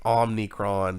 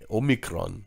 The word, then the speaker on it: Omicron: moronic I I do notice that Alex Jones pronounces it omnicron just like he does the whole George W